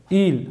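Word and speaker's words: huile: Chocolat, sakiz, chewing gum, chewing gum, ketchup, ketchup, telaffuz aynı, mayonnaise, mayonnaise, mayonnaise, sivriya, il, il, hatırlayın, H, H yazılır ama telaffuz edilmez, sirke, vinaigre, vinaigre.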